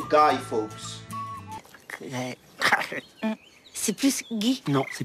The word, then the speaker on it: Guy Fawkes: Enfin, en anglais, c'est plutôt Guy Fawkes.